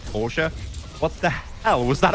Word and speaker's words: Porsche: Or if you want to be a fancy kid, Porsche or I suppose a German that pronounces the name correctly. Porsche.